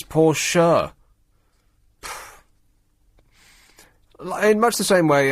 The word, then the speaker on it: Porsche: Mercedes but you say Porsche you say Porsche and people go oh it's not Porsche it's poor sure in much the same